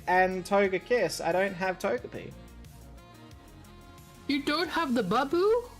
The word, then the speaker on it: Togepi: ourselves a togy or as Josh was pronouncing it until recently I took it the gappy and I'm like no Josh that's not how you pronounce it at all the first couple of times I'm like is Josh just saying this ironic but no they legitimately were pronouncing it to gapy I'm like oh boy